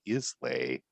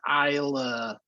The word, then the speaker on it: Islay: It's uh finished in French oak and islay scotch barrels. Wow. It's pronounced Isa.